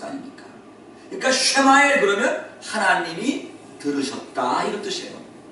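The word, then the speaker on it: ישמעאל: 이스마엘. 여러분이 이스마엘이란 말이 무슨 뜻인지 아세요? 이스마엘. 원래는요 이 이스마엘이 아니고 정확한 히브리식 발음을 제가 얘기하면 쉐마엘 그렇게 얘기합니다.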